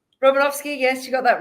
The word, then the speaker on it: Romanovsky: Did I pronounce your surname correctly? Robinovski.